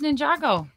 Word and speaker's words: Ninjago: don't know much about Ninjago but I do know this I had to look this up because I didn't want to say it wrong is it Ninjago or Ninjago Ninjago it is Ninjago yep so I used